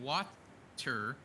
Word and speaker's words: water: Yeah, the T in water sounds like a D when you say it regularly.